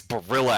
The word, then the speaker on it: Barilla: I don't know pasta oh it's Barilla it's Barilla at the store I just Googled it I was like one syllable away it's pretty close pretty close we'll